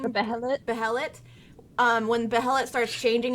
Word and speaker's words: Behelit: Behelit.